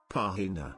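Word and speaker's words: página: bursted out laughing apparently i've been putting the accent on the wrong syllable when i say the word page pahina when i say it it sounds like i'm saying vagina in spanish i've essentially been telling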